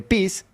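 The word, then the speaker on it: peace: el juego de palabras entre pis, que se escribe p E a c e, con pis, que se pronuncia parecido, en vez de la e tiene una i y es parte o pedazo.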